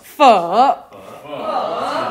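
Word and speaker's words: phở: Yeah, everyone say pho or like pho, but it's pho.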